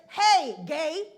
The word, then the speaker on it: Hegai: But the pronunciation of the word is Hegai.